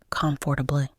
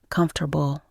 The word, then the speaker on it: comfortable: it came out as comfortably. A local friend, Sarah, gently corrected me and said, "It's comfortable. Don't stress too much on the syllables. Just relax your mouth."